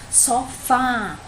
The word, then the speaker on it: sofá: Sofá. Aqui já tem um acento na última sílaba. Então, já sabe que a última sílaba é tônica.